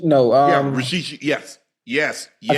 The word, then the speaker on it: Rashid: Rashid. No. Rashid.